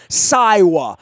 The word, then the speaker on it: Siwa: And I did not know how to pronounce her name, so I had to find out that it was Siwa.